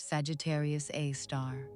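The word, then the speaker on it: Sagittarius A*: It houses a super massive black hole with the designation Sagittarius A, pronounced Sagittarius A star.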